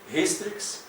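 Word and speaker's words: Hystrix: французька назва цієї літери вона вимовляється в класичній латині на німецький манер як українське г трошки полегшено гістрикс гіменоптера геріна а Не як ха особливо в останньому випадку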